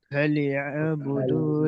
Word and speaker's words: فليعبدوا: فليعبدوا رب هذا البيت ما شاء الله رب ما شاء الله। هذا ফালিয়া, আইন আছে ভাই, আইনটা গলার البيت মাঝখান থেকে উচ্চারণ হয়, ভুলে গেলে চলবে না।